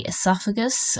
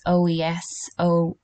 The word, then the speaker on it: oesophagus: So the next one here is the esophagus, okay? It is a tricky one. It's OESOPHAGUS, but as long as you can somewhat spell it, examiners will give full marks.